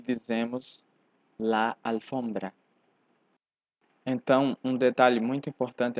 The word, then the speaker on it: alfombra: invés de dizer la alfombra diríamos el alfombra porém nesta palavra a tônica Não é a primeira sílaba mas sim a segunda F se a sílaba